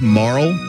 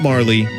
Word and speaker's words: Marle: By the way, it's Marl, not Marley, because in the Japanese version, her name it's pronounced Maru. So Marl is closer to Maru than it is to Marley.